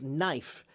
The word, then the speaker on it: knife: have some words like the word knife which has a kn in the beginning of it but now we pronounce it as knife but the truth is a long time ago we did pronounce it as knife it was kifer That was the the